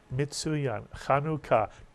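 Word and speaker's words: Hanukkah: beu the second syllable put the word together and you get the holiday kanuka two syllables and kanuka is the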